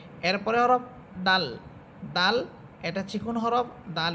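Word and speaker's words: دال: এরপরে হরফ দাল।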